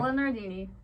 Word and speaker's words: Bella Nardini: I'm here with Bella Nardini today. Is that how you say it? Yep. All right. Bella Nardini.